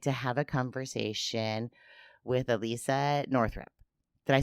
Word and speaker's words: Alissia Northrup: And today I get to have a conversation with Alissia Northrup.